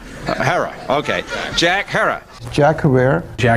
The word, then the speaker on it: Herer: Have I pronounced it correctly, Jack? Herer. Herer.